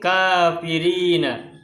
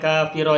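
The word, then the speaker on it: كافرين: muslim Unnes laisouw kafirina ini bacanya kafirina bukan kafir Oh ini karena sebelumnya ada konteks zaman jadi bisa dilihat dari kata lain Shu lechuza Mahmud akan Makanya kafirina karena kalau kafir Oh ini berarti mutsanna Adapun jamaahnya kafirina Kafirun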